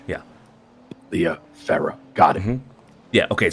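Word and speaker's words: Liya Farrah: Sophia Ramsay and L Farah Leah it's it's pronounced Leah Farah yeah correct yeah l i y a Farah f a r r a h yeah Leah Farah got it mm yeah okay so those are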